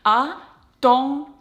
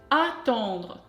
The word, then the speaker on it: attendre: You block the air and you push the air up through your nose. Try to compare like this. Attendre, attendre.